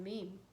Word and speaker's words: meme: Okay, so as the basic unit of genetics is the gene, the basic unit of memetics is the mean. Okay, let's see. Rhymes with team.